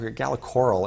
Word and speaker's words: Gala Coral: using splunk uh gala corral is a uh gala coral is actually how they pronounce it um is a uh betting service